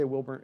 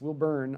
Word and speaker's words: Wilbourne: resign TJ and I I don't mean to say wilbor it's will burn I know TJ sorry